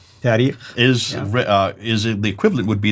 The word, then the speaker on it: tarikh: And then the last genre, the tarikh.